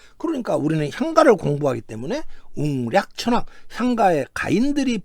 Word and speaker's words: 웅략: 보면은 그 향가 시대 향가 작자들은 한자를 우리말 발음 즉 웅략 천왕 이런 식으로 읽고 있다는 것입니다 유라 그 천왕은 구